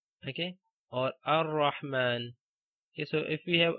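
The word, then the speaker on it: الرحمن: If there is a word starting with alif and lam, like you have the hamzatul wasl and the next letter is lam, then read this hamzatul wasl with fatha, like ar-rahman.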